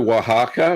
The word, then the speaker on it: Oaxaca: bit like cheddar um yeah that yeah my pronunciation is terrible so don't worry about that um don't worry about queso queso oaxaca which is the little string balls made with